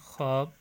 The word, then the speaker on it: خواب: جیسے ہم لکھتے ہیں، یہ الفاظ اردو میں مستعمل ہیں: خواب، خیش، خورشید. ان میں یہ واو جو ہے وہ سائلنٹ رہتی ہے، اس کی آواز نہیں آتی.